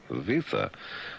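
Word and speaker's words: Wiese: Western Australian police minister Bob we visa W I E S E. It be visa.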